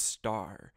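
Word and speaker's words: ★: like to cover that the asterisk symbol that pentax uses is pronounced star as in a starist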